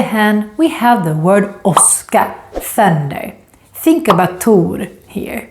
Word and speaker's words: åska: Åska. Let's compare these two words. Tåg, åska. Tåg, åska. Can you hear the different sounds of the O? One is longer and one is shorter.